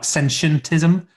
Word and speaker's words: sentientism: I've practiced, but yeah, the easiest way to think of it is sentient and then put ism on the end.